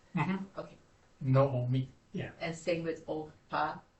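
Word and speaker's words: נעמי: So it's no, o, me.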